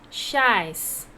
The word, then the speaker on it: chaise: It is, how to pronounce? Chaise. What it is? Chair, chaise. How to pronounce? Chaise. Chaise means chair.